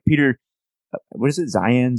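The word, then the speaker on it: Zeihan: good right because like Peter what is it Zion saying how do you saying Zayn yeah that's kind of hard for people listening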